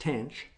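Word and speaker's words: tanh: For example, hyperbolic tangent, pronounced tench, is the ratio of sinh to cosh, and the hyperbolic secant, which I won't try to pronounce, is 1 over cosh.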